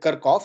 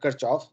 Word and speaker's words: Kirchhoff: do a simple kirchhoffs i call it kirkhof some people call it kirchoff but i think kirkhof is the correct way to say it when you use